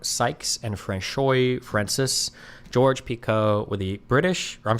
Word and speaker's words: Picot: So, it's probably Pico or something, right?